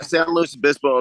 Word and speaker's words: San Luis Obispo: Yeah, San Luis Obispo.